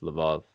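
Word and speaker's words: Lviv: Kiev I was in I think you say Lubov it's spelled look for English it sounds like Livi it looks like l'viv would it's live off and it's beautiful anyways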